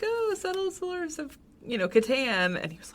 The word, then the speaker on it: Catan: But, so how do you pronounce Klaus Teuber's The Settlers of... Catan.